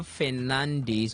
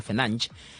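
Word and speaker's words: Fernandes: So Manchester United's Portugal midfielder Bruno Fernandez or he says the correct pronunciation of that name is Bruno Fernanch is 30 is a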